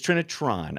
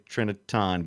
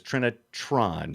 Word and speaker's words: Trinitron: trinitron or trinitan it's trinitron i do sometimes say it too fast and say trinitan but it's not it's trinitron is it there's a tron it there's a tron at the end of that yeah sometimes i skip